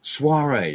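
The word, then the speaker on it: soirée: Soiree? Soiree, yeah.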